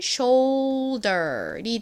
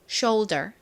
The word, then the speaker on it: shoulder: 소리 나고 이은 are 소리 나죠 그래서이 단어의 발음은 shoulder이 됩니다 shoulder 보통 한국식으로는이 단어를 숄더 이렇게 표기합니다 숄더 더의 의미는 뭘까요 어깨를 의미하는 단어이자 자 발음해 볼게요 어깨 shoulder shoulder 자 오이 들어가는 두 단어 복습해 보도록